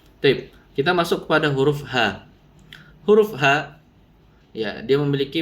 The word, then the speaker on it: ه: Contoh ha, bukan ho, ya. Banyak orang yang mengucapkan huruf H, ho, ho. Nah, ini salah, keliru ya. Pengucapan huruf H harus ha, ha.